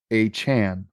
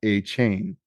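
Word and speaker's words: Achane: team that moving forward he would like his name to be pronounced Devon a Chan not a chain as it currently is listed in the team's media guide hhan hhan okay yeah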